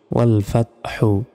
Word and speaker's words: والفتح: ওয়ালাম জবর ওয়াল, ফাতা জবর ফাত, হা পেশ হু, ওয়াল ফাত হু। এখানে যদি থামি তাহলে উচ্চারণটা হবে ওয়াল ফাত। দেখুন ওয়াল ফাত, ফাত বলার পর হা অক্ষরের একটা পূর্বাভাস উচ্চারণ হবে, ওয়াল ফাত, এভাবে ওয়াল ফাত।